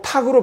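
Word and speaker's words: 度: 요건 탁으로 발음하는데 헤아릴 탁입니다.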